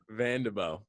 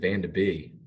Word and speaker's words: Vanderbo: How do you pronounce your last name? Vanderbo. Vanderbo. Someone I was talking to someone Yeah. the other day and they pronounced it Van de Bee.